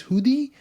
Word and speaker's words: Hoodi: Yeah, but it's actually named after a place in Bangalore. So if you pronounce it properly, I think the proper pronunciation is Hoodie, but everyone's just calling it Hoodie.